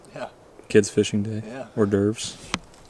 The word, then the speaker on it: hors d'oeuvres: Horse divers are hors d'oeuvres. And Greg spelled it out for me, so it makes more sense now, but Mike has been pronouncing hors d'oeuvres horse divers.